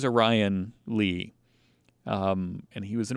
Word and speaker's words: Orion Lee: if it's because i i think it's orion lee some people are orion when you spell it like that but i'm pretty sure he was a ryan lee um and he was